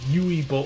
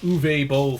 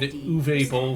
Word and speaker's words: Uwe Boll: It basically is a off-brand Yui Bowl or Uwe Boll film. I like pronouncing it Yui just because it sounds funny to me. But it basically is an off-brand Uwe Boll film, though.